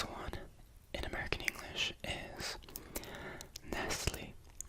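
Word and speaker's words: Nestlé: This one in American English is Nestle. We almost don't pronounce the T or at least I've never really heard it that way.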